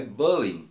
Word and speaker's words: bullying: Então, entendemos um pouquinho que é o estrangeirismo e que a pronúncia correta da palavra bullying é bullying, né?